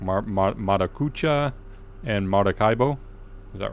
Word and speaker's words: Maracaibo: I hope I pronounced that correct. Maracucha and Maracaibo.